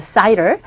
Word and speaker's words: cider: 영어도 그대로 사이다가 아니라 여기서는 cider이라고 발음합니다. cider.